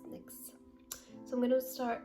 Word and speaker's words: NYX: i pronounce the brown correct because i always pronounce it as nyx when in reality it is pronounced nyx so i'm going to start with lining okay